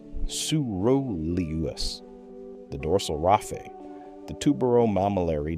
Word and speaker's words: coeruleus: It sends inhibitory signals to the arousal centers, the locus coeruleus, pronounced locus, coeruleus, the dorsal raphe, the tuberomammillary nucleus.